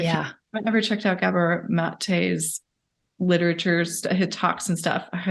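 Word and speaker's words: Gabor Maté: such as, and I don't know how to pronounce his name. Is it Gabor? Yeah, Gabor Mate. Yeah. Gabor Mate.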